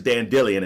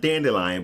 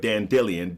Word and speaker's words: Dandelion: by the way is dan Dillian and that is how you pronounce it not dandelion but Dan Dillion desk or they've replaced